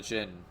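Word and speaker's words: Djinn: the uh the the Gin is that how you pronounce it I I believe the D is basically silent and with the way we pronounce it in English so it's just Ginny or yeah um yeah it's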